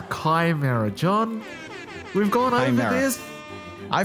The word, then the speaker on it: Chimera: heard the pronunciation of chimera Jonathan I've told you before it's not Chimera it's Kimera John we've gone this